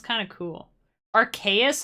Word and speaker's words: Arceus: i'm going to say arseaus because that sounds kind of cool archaeous also sounds cool because it sounds like archaic which is like ancient